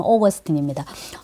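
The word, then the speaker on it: Augustine: 영어식 발음으로는 오거스틴입니다.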